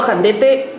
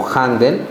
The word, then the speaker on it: Jandete: Mi apellido es Jandete o Jandet, algunos lo han pronunciado como Janden.